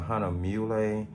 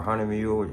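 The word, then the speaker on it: Hahnemühle: One of them is a Hahnemuhle or Hahnemuhle, however you want to pronounce it, accordion style little sketchbook.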